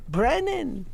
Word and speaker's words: Brennan: say it like this people say Brenner all the time Brennan you know there you